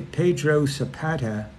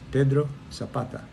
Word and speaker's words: Pedro Zapata: You notice I didn't say Pedro Zapata. Got to pronounce it right. It's Pedro Zapata.